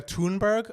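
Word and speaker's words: Thunberg: let's go all right we were debating how to say her name I believe it's got a toonberg according to um Matt Steele if it's not it is now it is now so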